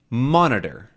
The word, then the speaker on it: monitor: one exactly Tab tablet monitor monitor three good Monitor and the stressed one is Monitor mon right um in these cases